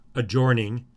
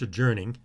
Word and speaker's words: adjourning: performing and adjourning uh maybe you want to pronounce that adjoining but it's adjourning uh adjourning uh the